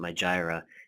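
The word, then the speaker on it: Mailchimp: this thing my Jireh that's actually how you pronounce it my Jireh and right here my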